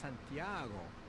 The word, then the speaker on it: Santiago: I don't recommend for everyone, but for you, I think the Camino Santiago. What is this called? Searching for strawberries. Clouds. Huh? It is pronounced Santiago.